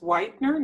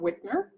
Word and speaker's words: Whitener: My last name is pronounced Whitener, not Whitner.